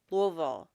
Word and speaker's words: Louisville: this trial is to properly pronounce louville louville like you have marbles in your mouth what are we we're